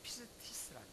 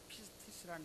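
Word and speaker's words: πίστις: 믿음이란 말은 우리 우리 말로 읽어 나갈 때에 피스티스 피스티스 말로 이렇게 발음에 읽 읽어 나가는데 믿음이라는 말은 피스티스 영어로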